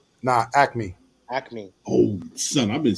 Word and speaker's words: Acme: right is it active is it acronymy or acne nah acme acne oh son i've been saying this joint